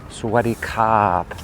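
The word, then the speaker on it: สวัสดีครับ: And usually when you say Sawadi, you add kop. Kop, so, and that has, Thai people have a lot of inflection, especially at the end of their sentence, so they'll say Sawadi kop.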